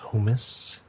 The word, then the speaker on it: hummus: it fell apart um it's pronounced humus humus um and